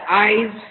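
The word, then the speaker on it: Ise: Once the parade is over, they gather for an oyster festival to shuck and bake shellfish, which I also thought was kind of unique and interesting.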